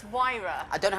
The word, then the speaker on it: Huayra: It's Huayra. I don't know how to spell it.